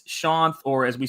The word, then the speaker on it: Shanth: I see my name, so it's spelled Shanth. That's why people want to pronounce it that way. It makes total sense to me, but it's pronounced Shanth. And the easiest way I can think to explain it is, in terms of its origin, is it's an Indian name, and it's the equivalent